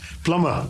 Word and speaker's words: plumber: And just one more uh pl l u m b e r plumber. Plumber and not plumber.